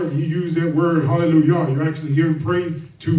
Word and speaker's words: hallelujah: up, they say, well, it's spelled with a J, but it's pronounced as a Y.